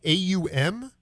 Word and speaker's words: Aum: I think I'm pronouncing A-U-M. Aum. It was a reversal of the Om that you chant.